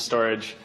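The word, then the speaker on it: Storj: cloud storage platform which is fast it's cheap and is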